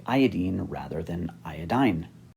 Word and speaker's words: iodine: fluorine chlorine bromine and iodine notice that i say iodine rather than iodine it's